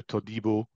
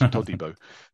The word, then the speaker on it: Todibo: Which to me, being French, it should go Todibo, but apparently it's Todibo. Todibo, okay. Which I guess is coming from his African roots. That's the pronunciation for it.